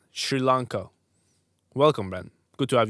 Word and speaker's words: Sri Lanka: from s Sri Lanka it's pronounced sh not sir right Sri Lanka welcome man good to